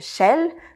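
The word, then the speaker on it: Shail: sur le sujet de la locomotion, qui s'appelle Shell. Donc ça s'écrit S-H-A-I-L, qui est une application qui va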